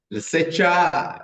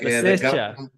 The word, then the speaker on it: Lesetja: Lesetja, did I pronounce that okay? Lesetja, like Lesetja.